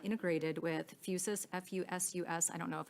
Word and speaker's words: Fusus: Can Axon certify in writing that Outpost is not integrated with Fusus, F-U-S-U-S, I don't know if I'm pronouncing that.